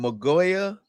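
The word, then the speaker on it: Mauigoa: Magoya.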